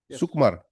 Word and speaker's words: Sukumar: How do you pronounce this? Sukumar. Sukumar.